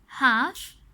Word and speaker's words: half: We do not hear the letter L when we say them. जब हमने इन words को से किया, we don't hear the letter L. The letter L is silent.